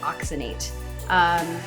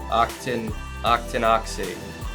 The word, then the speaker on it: octinoxate: One is oxybenzone and the other one is oxynate. They are both harmful to reefs. Did I pronounce that correctly? It's like octinoxate.